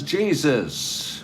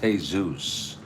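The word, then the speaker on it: Jesús: my parents and say, this guy's name is Jesus. What is this? And my mother said, no, it's pronounced Jesus.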